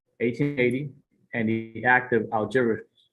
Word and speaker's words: Algeciras: 1950 court case, the Treaty of the Rights of Protection in Morocco, 1880, and the Act of Algeciras. That's how you say it. Algeciras.